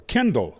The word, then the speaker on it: Kendyl: So we're so grateful today to have with us Miss, or Kendyl.